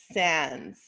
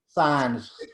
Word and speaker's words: Saenz: So let's go over Kim Sands. Is that how you say your name? Science? Signs. the Killer Nurse. It's pronounced S-I-G. Signs.